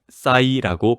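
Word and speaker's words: PSY: 영어로는 P, S, Y 이렇게 세 글자로 쓰는데요. 우리말로는 사이라고 발음합니다.이 이름이 어디서 나왔는지 아십니까?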